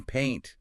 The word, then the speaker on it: paint: And then paint, P-A-I-N-T, uses a completely different long vowel, the long A.